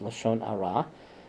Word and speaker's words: Lashon Hara: rah Lashon Hara or in the onion is pronounced Lashon Hara which is malicious gossip a catastrophe is musty